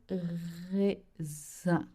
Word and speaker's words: raisin: The word grapes in French is le raisin. Yes, le raisin. Zin. So we have another sound here to make the sound un. Your lips are stretched. Your mouth should be half closed. Un. Le raisin.